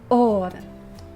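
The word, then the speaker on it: אור: And the Lord said, "Let there be or."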